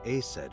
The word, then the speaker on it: Isis: And Isis sounded like Aset in ancient Egyptian, which is where your stage name comes from.